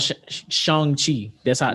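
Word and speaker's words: Shang-Chi: think about think about shanghi apparently that's how you pronounce it that's how they say it in the trailer but that's coming out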